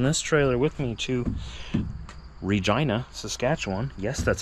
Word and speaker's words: Regina: I'm taking this trailer with me to Regina, Saskatchewan. Yes, that's how you pronounce it.